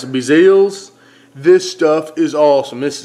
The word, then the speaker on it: BeaZell's: great that's right here it's a blip it's pronounced of Brazil's this stuff is awesome this is cajun certified